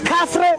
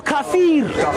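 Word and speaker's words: kafir: Pronounce kaffre or kaffir.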